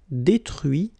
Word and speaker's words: détruit: Okay, so you can notice that even if I put this final T, so as usual, I don't pronounce it. Okay, conduit, construit, cuit, détruit, instruit.